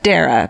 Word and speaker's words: Dara: Stay sexy, do Murderino yoga, Dara, pronounced like Sarah.